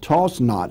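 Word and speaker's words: Toisnot: say wilson county carolina the community's origin name was toys not pronounced toss not he's got it here t-o-s-s-n-o-t like toss not believed derived from the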